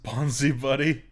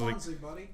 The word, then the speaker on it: Bonzi Buddy: This is Bonzi Buddy, I think. Because if it's AI, then it's bonsai, isn't it?